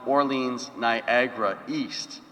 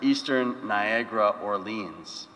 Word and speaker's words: Orleans, Niagara East: Of course, one for One Catholic comes from Orleans, Niagara East, which, as some of you know, isn't the normal way to pronounce it. It's normally pronounced Eastern Niagara Orleans. But I thought that the Eno Catholic community would be a little weird. And it made more sense to use it in the way that we use it,